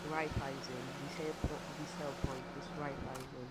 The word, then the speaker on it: Raiffeisen: How it's pronounced because there is a bank kind of institution called like that, and that's how you pronounce it.